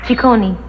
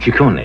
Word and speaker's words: Ciccone: right yeah my father's Italian the name is pronounced Ciccone she corny yeah right strict family yes Barry in what